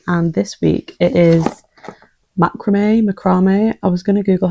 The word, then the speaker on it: macramé: Let me actually find out real quick. Macramé. Okay, so both of the options I said were wrong.